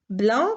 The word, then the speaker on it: blanc: Vous avez doux qui s'écrit avec un X, blanc qui s'écrit avec un C, corps qui s'écrit avec PS, doigt qui s'écrit avec GT et temps qui s'écrit avec PS.